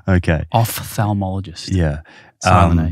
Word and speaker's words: ophthalmologist: But I know that your dad's an ophthalmologist. Mm-hmm. Is that how you pronounce it?